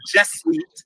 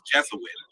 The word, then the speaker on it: Jesuit: that you look at the jet Suite by the way it's Jesuit Jesuit letters if you don't